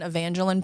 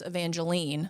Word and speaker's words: Evangeline: second guessing myself and thinking it was evangelene like the name of the Firefly and Princess and the Frog girlfriend hi Evangeline see you know what